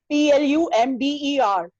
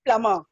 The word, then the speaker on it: plumber: And the most commonly mispronounced word by housewives and many educated people, it's plumber. Isme B silent hota hai, that is plumber.